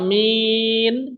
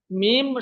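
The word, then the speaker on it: ميم: অনেকে বলে থাকি, মিম মিম, মিমের জায়গা মিম বলে ওঠি, বা মিন, শেষে গিয়ে দন্তন্য বলে থাকি, কিন্তু না, মিম শুধু ম উচ্চারণ হবে, মিম।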